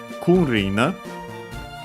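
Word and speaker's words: 君臨: Kunrin. We check its accent. Chinese compound. So actually I think it should be unaccented, and it is.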